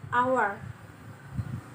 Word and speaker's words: hour: Dan selanjutnya ada an hour. An hour ini dibaca hour. Dalam pengucapan huruf pertamanya adalah A karena bukan dibaca hour. Meskipun depannya huruf H, tapi cara pengucapannya itu adalah hour and hour.